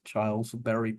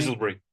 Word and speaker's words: Chiselbury: his first book deal with, I'm going to mispronounce this, Chilesbury Publishing, Chiselbury. Chisselberry, which is today's book, Forgotten Armor, Tank Warfare in Burma.